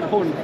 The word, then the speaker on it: Hörnfeldt: Hörnfeldt. There we go. Petter Hörnfeldt. Yeah, because we have those funny two little dots above the O.